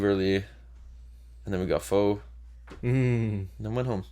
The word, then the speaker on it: pho: It's actually pho. Pho. I grew up saying pho, so I often say it wrong. I actually prefer to say pho than pho. I think I say pho because most people say pho. Like I know it's pho, but I just don't say it because everyone